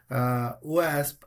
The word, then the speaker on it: OWASP: Yes, Oh, it's OWASP.